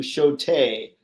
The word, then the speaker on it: Shota: And yes, it's pronounced close to Shote.